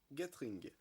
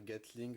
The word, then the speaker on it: Gatling: Armored Hunt et Flowerfang Gatring. Certainement qu'il doit se dire Gatling, puisque c'est la version Jap de... Enfin, vous savez, la prononciation Jap, le L et le R se confondent au Japon.